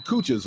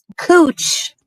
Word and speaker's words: Couch: Cooch. That's how you pronounce couch.